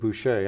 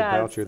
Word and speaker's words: Boucher: First of all, I'm proud to see somebody named Boucher doing so well on television, but he pronounces it Boucher. I pronounce it Boucher.